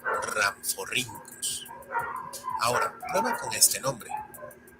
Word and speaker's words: Rhamphorhynchus: Algo similar le ocurre a la RH, pues recibe una pronunciación con una R marcada, como la doble R del alfabeto escolar de antaño. Por ejemplo, tenemos a, que se lee como Rhynchosaurus, o al complicado, que se pronuncia como Rhamphorhynchus.